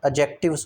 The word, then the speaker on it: adjectives: वैसे इसकी pronunciation एडजेक्टिव्स होती है। डी इसमें साइलेंट होता है।